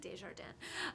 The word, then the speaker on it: Desjardins: Miss Desjardins is, or Desjardins, everyone pronounces it differently. I like Desjardins. I think it's chicer.